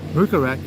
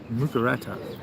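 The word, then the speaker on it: หมูกระทะ: Mukarat is the Thai barbecue. Oh, right. I'm pronouncing that wrong, I'm sure. I just blame my Thai accent for the reason. Mukarata.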